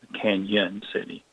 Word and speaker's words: Cañon City: So officially, it should have the tilde over the end to make that the Spanish Y sound, Cañon City.